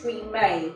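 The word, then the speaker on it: Premae: But the way I pronounce it is pre-May.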